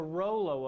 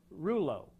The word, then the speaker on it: rouleau: That's the Rollo effect, or Rouleau, depending on what part of the world you're from. The pronunciation varies.